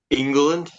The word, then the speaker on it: England: say your last name England just like the country just just um so